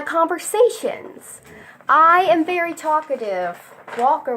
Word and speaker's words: Walker: I am very talkative Walker rhymes with talker that's my last name